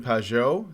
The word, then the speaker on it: Pageau: I am here with Jonathan Pageau. Is that how you pronounce that?